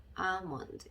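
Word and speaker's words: almond: 그래서 R 이렇게 발음을 해주고 싶긴 하나, 자, 그렇게 해주시면 안 되고요. 아몬드 이렇게 해주셔야 되겠죠.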